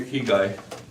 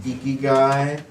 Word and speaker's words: Ikigai: We have a resolution and final plat for the key guy. Well, first I figure I'd address the elephant in the room and the kind of a distinctive name there. It's actually pronounced Ikigai.